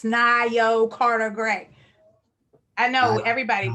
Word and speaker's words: Nayo: know my name it's nayo carter gray i know everybody does it looks like mayo pronounced it neo it's all good um